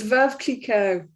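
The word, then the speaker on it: Veuve: translates to widow before oh yes so it's verve and that means the widow kiko and it's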